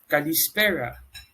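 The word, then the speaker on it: καλησπέρα: good afternoon or good evening is said as kalispera you can use these greetings depending on the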